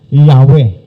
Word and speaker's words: Yahweh: Na later on nilagyan ng vowel sounds, kaya ang pronunciation ay Yahweh, no?